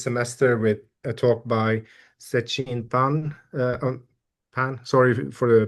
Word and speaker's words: Zexin Pan: Yeah, my name is, well, I mean, like, so the true pronunciation is like Zexin Pan, but I usually just pronounce it like Zexin Pan because I think it's easier for the English speaker to pronounce it.